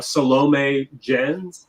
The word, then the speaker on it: Salome Jens: yeah also uh the next next one uh salome jens that's how you say her name is in